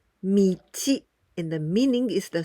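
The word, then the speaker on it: 道: We pronounce michi, and the meaning is the street, and also like the path.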